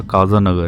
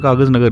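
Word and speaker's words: कागज़नगर: Spelling तो ऐसे है के ए जेड है तो मुझे लगा काज़ा नगर है। हिंदी में कागज नगर लिखा है।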